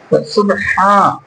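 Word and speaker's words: سبحان: আলিফ এটা হচ্ছে এক আলিফটা নিয়া পরিত হবে সুবহান সুবহানাল্লাহ।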